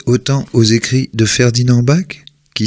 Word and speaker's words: Bac: Quelle mouche a piqué Barragán, après son diplôme d'ingénieur en 1931, de s'intéresser autant aux écrits de Ferdinand Bach, qui s'écrit B-A-C, ce Français, plus que multicarte, est par son père illégitime le petit-neveu de Napoléon Ier.